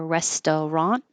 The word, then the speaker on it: restaurant: hear the D Resturant we get rid of the middle syllable so you won't hear restaurant it just becomes restaurant and you won't hear